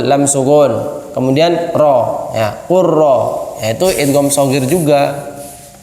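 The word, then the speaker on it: قل رب: Qul rabbi, berarti lamnya kan hilang. Ya enggak? Dianggap seperti hilang, langsung qaf ra, qurra.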